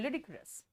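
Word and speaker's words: ludicrous: ल्यूडिक्रस बेटा, pronunciation क्या पूछ रहे हो? ल्यूडिक्रस।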